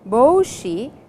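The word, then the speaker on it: ぼうし: Boshi over here and the pronunciation is Boshi which is a long o sound means a cap M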